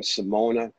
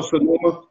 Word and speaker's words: Sonoma: you know, I went from Simona, am I pronouncing it right? Sonona. Oh, Sonoma.